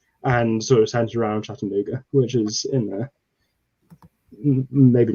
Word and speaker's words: Chattanooga: Same story, bit more compact, and sort of centered around Chattanooga, which is in there. Maybe not pronouncing that right, but you're perfect.